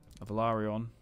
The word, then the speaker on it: Velaryon: Yeah, I guess I was saying it wrong back in the day. Velaryon.